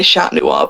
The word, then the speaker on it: Chat Noir: I would say Chat Noir, but because it's French. Yeah. But I think people do say Cat Noir as well.